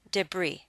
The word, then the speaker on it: debris: connotation the next word debris comes to us from the French so we do not pronounce the last letter s you pronounce this word debris as if it does